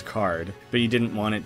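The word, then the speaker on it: Kaart: So obviously Toby wanted us to pronounce it as card, but he didn't want it to immediately look exactly like card.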